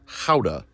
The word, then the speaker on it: Gouda: accurately pronounced Gouda, and vegan is more accurately pronounced vegan.